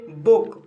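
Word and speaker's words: book: दोस्तों, इसका दूसरा नियम है जब डबल ओ के बाद के या डी हो तब डबल ओ का उच्चारण शॉर्ट साउंड ऊ होता है, जिसको हम देसी भाषा में छोटा ऊ बोलते हैं। और अच्छे समझने के लिए एग्जाम्पल देखिए, जैसे बुक।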